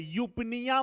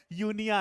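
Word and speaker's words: eupnea: तब मैं क्या बोलूंगा यूनिया पी साइलेंट है पी साइलेंट है यूपिया मत बोल देना यूपिया नहीं है बेटा क्या है यूनिया है ठीक है तो इस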